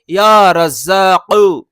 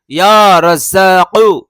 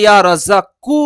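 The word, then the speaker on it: يا رزّاق: সেটা হচ্ছে কফ, আর এই কফ উচ্চারণ হয় জিবের গোড়া থেকে, অর্থাৎ কফ, কফ। তো এর উচ্চারণ হবে ইয়া রাজ্জাকু, ইয়া রাজ্জাকু। আমরা যদি ইয়া রাজ্জাকু বলি তাহলে কিন্তু এটা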